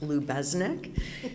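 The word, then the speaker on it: Lubeznik: It's pronounced LubeZnick Center for the Arts. It's a family name.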